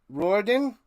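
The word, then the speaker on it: Riordan: Roen, that's how you say it.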